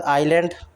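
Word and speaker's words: island: इसके बाद आइलैंड आइलैंड होता है। ठीक है? एस साइलेंट होता है।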